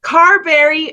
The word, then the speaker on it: Carberry: from frederickton New Brunswick Canada currently lives in Carberry am I pronouncing that correctly yes Carberry Manitoba Canada she's partner to sha dog mom